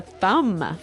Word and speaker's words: thumb: of this word no I actually only pronounce the M the thumb the thumb